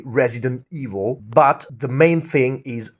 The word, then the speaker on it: Resident Evil: If you want you can also you know kind of eliminate the t at the end of the word resident. You can say resident evil but the main thing is resident evil not evil.